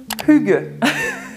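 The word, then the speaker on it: hygge: par le concept le plus connu qui s'appelle Hugues j'ai vraiment regardé la prononciation de tous les concepts par des locaux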